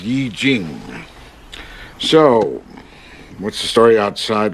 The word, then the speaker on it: I Ching: I Ching. It's pronounced Yi Jing.